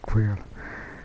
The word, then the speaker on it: Xaela: All Xaela, okay, it's pronounced as Xaela.